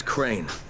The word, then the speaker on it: Crane: No, my name's Crane. Crane? Fuck, we're gonna do in video Crane store. Rhymes with train and brain and sane and grain and rain and plane and the other kind of plane.